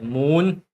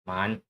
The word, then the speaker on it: 满: by the way so in Cantonese is pronounced as moon mu n Right. And this is moon. Mandarin is man.